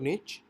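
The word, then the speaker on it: niche: करनी है निश मींस आप इसको इस तरह से प्रोनाउंस कर सकते हैं निश और निच और इसका जो बेसिकली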